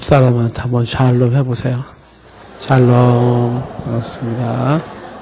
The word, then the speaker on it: 샬롬: 샬롬. 반갑습니다. 그 샬롬 할 때 앞에 액센트를 세게 주면 안 돼요. 예, 그러면 발음이 이상하게 나옵니다.